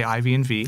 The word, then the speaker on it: IV&V: this is a mouthful that's why we just say ivnv yep every now and then you'll see here somebody pronounce it NASA four and five because on the side